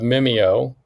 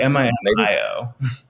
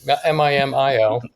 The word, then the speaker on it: Mimio: So just for some of the people that aren't familiar with Mimeo, Mimeo, Mimeo. Actually, M-I-M-I-O. Oh, yeah, that too. Mimio.